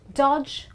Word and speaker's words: dodge: pronunciations one more time it's pledge Dodge Grudge really really simple and that's the rule of the combination of DG when D is silent well I really hope